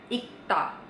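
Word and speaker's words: 읽다: Jadi kalau misalnya dalam sebuah kata ada huruf R dan G digabung kayak di kata ini, yang dibaca adalah huruf G-nya ya. Pada saat dia ketemu sama konsonan, yang dibaca cuma satu huruf aja. Yang mana satu hurufnya? Yang G. Oke? Jadi ini dibacanya ikta.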